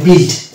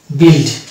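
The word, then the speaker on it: build: word গুলোতে আমরা দেখতে পাবো যে ইউ আর উচ্চারণ হচ্ছে না যেমন হচ্ছে বি ইউ আই এল ডি এটাকে আমরা বলি বিল্ড বিল্ড তারপরের ওয়ার্ড আছে যেমন আরেকটা ওয়ার্ড বলি যেটাকে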